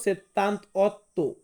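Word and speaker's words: settantotto: বলবো সেত্তান্ত অর্থ সেত্তান্ত এটা কিন্তু সেত্তান্তা না আমি বারে বারে বলতেছি 18 28 তার পরবর্তীতে যত আটের ঘর আছে এটাকে হবে সেত্তান্ত মানে সেত্তান্ত প্রত্যেকটা হবে না প্রত্যেকটা ওই যে সেত্তান্ত আটা হবে না লাস্টে সেত্তান্ত্ব মানে হচ্ছে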